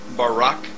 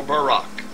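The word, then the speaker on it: ברק: brightness or a glittering, the Hebrew word is barak. So lightning, or a flash of light, in Hebrew is pronounced barak or barak.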